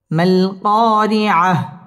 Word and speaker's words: القارعة: আল কারিআ, মাল কারিআ, মিম লাম জবর মাল, কফ আলিফ জবর ক,